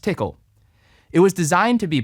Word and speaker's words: Tcl: command language which is abbreviated as tcl and often pronounced tickle it was designed to